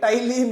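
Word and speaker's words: ptyalin: और salivary amylase को और क्या कहा जाता है, क्या कहा जाता है, क्या है, टाइलिन कि पटाइलिन? अरे भाई टाइलिन है। ओके, पी साइलेंट होता है।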